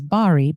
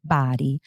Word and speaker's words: Bari: It's spelled Bari. So some people may pronounce it as Bari, but it's pronounced Bari.